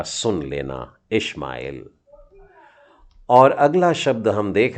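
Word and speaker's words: ישמעאל: Shin है ये, देखिए ब्लैक ऊपर का डॉट कहाँ डला है, तो ये हो गया शिन मतलब श, और उसका छोटा उच्चारण है मतलब श बोलने का है। और मेम के नीचे आ की मात्रा मतलब माँ, और फिर एल, तो ये हो गया इशमाएल, इश्माएल।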